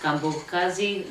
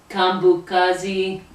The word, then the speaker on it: KaMbokazi: KaMbokazi. KaMbokazi Zulu. Okay. Stop! I got it! I wanted to make sure I pronounced her name right, so I asked her